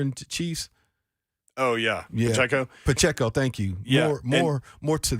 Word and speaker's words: Pacheco: Pacheco, thank you.